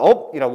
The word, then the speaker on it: 없다: 없다의 발음도 업이라고 했을 때도 결국 이거는 어 르그르프가 아니죠. 그럼 어디 거게 발음난다. 즉 비읍으로 업이라고 발음을 하겠죠.